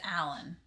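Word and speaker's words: Alain: d12 blessings yeah i think my name is alan a-l-a-i-n allen is a-l-a-n i know but you pronounce your name however you want a pronunciation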